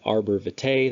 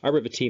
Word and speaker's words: arbor vitae: Arbor vitae means tree of life. Actually, it's supposed to be pronounced arbor vitae. I said arbor vitae before, but regardless, that's the cerebellum.